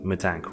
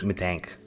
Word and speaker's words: Mittank: people have this question how do you pronounce his last name so for like I don't know just for reference we're gonna go with my tank right like not me tank yeah but uh right